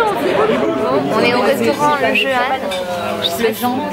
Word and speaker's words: Jehan: On est au restaurant Le Jehan. Le Jehan. Mais ça s'écrit Jehan, c'est pour ça que je dis comme ça. On m'a dit que c'était le Jehan. Ça s'écrit J-E-H-A-N. Donc c'est le Jehan.